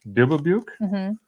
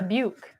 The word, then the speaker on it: Dubuque: I forget that they live Dubbubuke. over there. Can someone like hooked on phonics type out Dubbubuke? How you're supposed to pronounce it? For Pete's sake. I gotta see. Don Chandler. Dubuque.